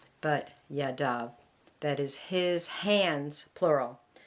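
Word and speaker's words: ידיו: feet and add the vav so it's it's pronounced yadav not ya dive but yadav that is his hands plural we see that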